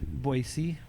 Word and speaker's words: Boise: don't think about it I just say it right there's no Z in there boy this how I